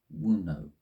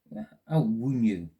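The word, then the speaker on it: Wunjo: Okay, so our energy for the month is Wuno. Let me see how that's pronounced properly. Okay, and I've gone too far. This is fantastic. It is Wunyu.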